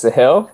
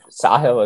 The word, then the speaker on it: Sahil: um my name is sahil uh sahil is actually the right pronunciation so that's awesome that